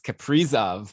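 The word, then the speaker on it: Kaprizov: ben even called us out for saying that name wrong it's caprizov well actually you got called out for pronouncing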